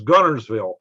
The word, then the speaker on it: Guntersville: was born in is gunnersville but it's spelt guntersville but we never pronounced the t so there you are